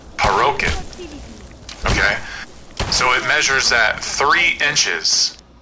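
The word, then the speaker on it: פרוכת: So in Hebrew, it's known as the parokhet, which is spelled Parochet, and it's pronounced Parochet.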